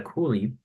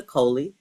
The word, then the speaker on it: Coley: Nicole Robinson, and I'm here with special guest Cooley. Sorry for mispronounce that name, but can you introduce yourself and explain a little bit about what you do? Okay, my name is Coley.